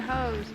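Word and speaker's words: Hoh: Because we're hoes. I think that's how it's pronounced. H-O-H. Sounds like ho.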